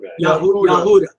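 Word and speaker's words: יהודה: Judah. Jehudah. Right? Jehudah. How do you say it? Yahudah.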